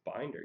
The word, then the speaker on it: Binder: pronounce your last name literally everyone pronounces this wrong it's not complicated just read it like it sounds it's binder you know three- ring